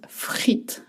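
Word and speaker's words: frites: In French, the word is frit, not frit. In French, you don't hear the plural. You've noticed uh it's going to be frit with s at the end. You don't pronounce the S.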